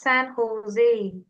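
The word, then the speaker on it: San José: I go to school in San Jose. San Jose. It's Jose. It's pronounced San Jose.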